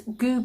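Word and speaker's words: Gü: We have got nice goo puddings. I don't know if you know what goo is. It's spelt G-U.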